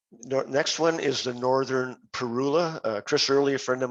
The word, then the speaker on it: Parula: Most birders, including me, say Parula, but I'm told that the proper pronunciation is Parula. I guess it's tomato.